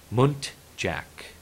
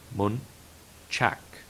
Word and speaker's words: muntjac: Next word is muntjac or muntchak.